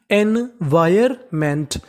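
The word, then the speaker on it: environment: this का मतलब इस इ एन इसे पढ़ेंगे एन वी आई R wire और यहां पे जो एन है हमें एन का उच्चारण नहीं करना एन हमारा साइलेंट रहेगा और आगे लिखा है एम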